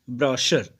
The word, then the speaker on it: brochure: ब्रोशर, the pronunciation is ब्रोशर।